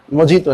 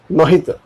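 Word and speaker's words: mojito: I love the test of मोहितो, इट इज JI लेकिन मोहितो।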